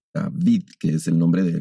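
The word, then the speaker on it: Δαυίδ: Y entonces, por ejemplo, el nombre de David se escribe en griego con una ipsilon y suena como una V, David, que es el nombre de aquel gran rey.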